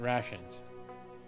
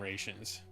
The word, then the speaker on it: rations: I still stumble over I know that you pronounce it rations but my 10-year-old self got really into calling them rans and it's some part of my brain never been able to move past it rations you got to ration